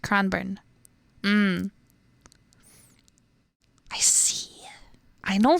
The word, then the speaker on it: Cranbourne: heal it yeah the suburb can born it's pronounced cranbourne um I see I know very little about